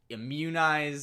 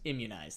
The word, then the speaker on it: immunize: them their shots immunize immunize there you go I think you just put the syllable in the wrong spot I do that the